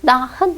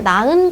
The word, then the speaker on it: 낳은: 이거를 히읗을 발음해야 나흔 아니죠. 이렇게 발음하죠. 낳은 것 같아.